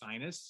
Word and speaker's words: Ursinus: students to remember, one, how to say the name. It's Ursinus. So just in case you guys ever visit campus, you'll get a nice shirt that phonetically spells that out, you know, just kind of draw you along.